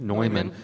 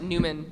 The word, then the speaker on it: Neumann: Neumann. It doesn't look like it would be pronounced the way it reads. Yeah. Everyone pronounces it Newman.